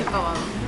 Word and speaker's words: Lechon Kawali: Lechon Kawali.